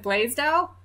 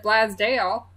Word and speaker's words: Blasdell: use a village in Western New York called Blasdell. That's B-L-A-S-D-E-L-L. If you're from Western New York, which I'm not, you might take umbrage with my pronunciation. Some folks pronounce it Blaisdell, some folks pronounce it Blasdale, and so on.